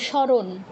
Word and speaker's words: স্মরণ: এই ক্ষেত্রে কি করি এই ক্ষেত্রে দন্তস যোগ ম আছে উচ্চারণ কি করি স্মরণ স্মরণ বলি মজ একটা আছে এটাকে কোন তাকাইও না পাত্তাও দেই না শুধু স্মরণ বলে দেই আবার এটাই কি বলি